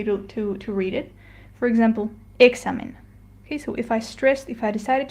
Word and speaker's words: examen: And we have to stress the next to last syllable, which in this case is the X and A. So the proper way to read it would be examen.